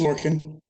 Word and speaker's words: Lorcan: And is it Lorcan? How do you say your name? Sorry, it's Lorcan.